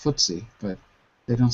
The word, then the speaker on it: FTSE: it stands for anyway it's pronounced footsy but they don't say